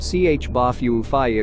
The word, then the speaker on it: J'ba Fofi: many are still unknown pronounced ch bafufy according to intonation the term literally means